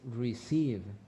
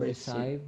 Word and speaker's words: receive: other companies good just pronunciation is receive receive not recite but receive respect the other word